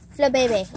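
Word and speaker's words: Flabébé: Flibibit.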